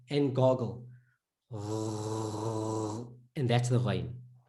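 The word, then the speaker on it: غ: And that's the ghain, right? It has to be at the back, in your mouth, deep in. That's the ghain.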